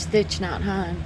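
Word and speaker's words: Thich Nhat Hanh: And one of the books I read from I think I'm going to say his name wrong is Stitch Not Han.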